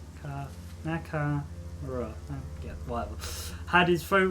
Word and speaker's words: Nakamura: God, why is my brain so suddenly forgot how to pronounce it? Namaruka. Yeah, I pronounced that wrong. Nakamura.